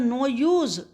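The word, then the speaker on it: knew: इसके बाद क्या हुआ, अकबर न्यू, न्यू नो की पास्ट टेंस फॉर्म होती है, कि इसमें साइलेंट रहता है, जानते थे, अकबर जानते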